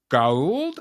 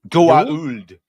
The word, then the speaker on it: Goa'uld: Goa'uld. Goa'uld. Whatever. It's like some actors go the Goa'uld and they say it like the right way, and then some by the end they're just like the Goa'uld.